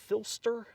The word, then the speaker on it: Philster: like three different switches do you pronounce it filster that's how i've always assumed but i've never really heard anything l-e-s-t-e-r right yeah filster or is it p-h-i-l-s-t-e-r either way i pronounce it philster i say it filster right if it's something other